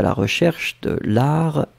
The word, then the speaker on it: art: Ici, on est à la recherche de l'art, L-A-R-T. Le T final n'est pas prononcé.